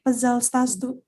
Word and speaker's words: пожалуйста: P A J A L Пожалуйста.